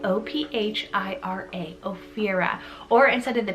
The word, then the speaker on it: Ophira: spellings i have the name of era spell o p h i r a ophira or instead of the ph you can